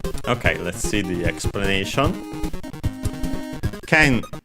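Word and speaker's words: けん: on the last syllable, while ken is accented, so accented on the ke, ken.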